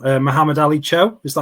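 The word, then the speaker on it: Mohamed-Ali Cho: obviously an avatonian I recognize this name uh Muhammad Ali Cho is that how you pronounce it it is yeah Moe Ali Cho so he he Cho has had a bit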